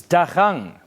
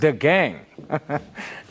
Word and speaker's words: Agang: Clinton says, Tweeps, it's not Agang DA, it's Dagang, pronounced the gang.